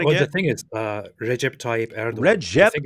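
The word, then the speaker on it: Recep Tayyip Erdoğan: do weird things like Erdogan is actually like Erdogan or something like this. So why don't you give us the official Turkish pronunciation where not one letter in that entire name has any connection to how it sounds? It's Recep Tayyip Erdogan.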